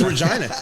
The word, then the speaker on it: Regina: No, that's how it's pronounced. It's a real city. That's Regina, Saskatchewan. Getting any trouble. Okay. No, no, it's Regina.